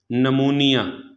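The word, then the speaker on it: pneumonia: N silent हो जाएगा number तीन अगर किसी लफ्ज़ में एन या एस से पहले पी ए जाए तो पी हमेशा साइलेंट हो जाता है जैसे नमूनिया तो एन से पहले क्या है पी है तो यह पी क्या हो जाएगा साइलेंट हो जाएगा इसी तरह शाम इस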